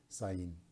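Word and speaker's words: ז: de la letra hebrea Zain. Se pronuncia esa letra hebrea como si fuera una Z española.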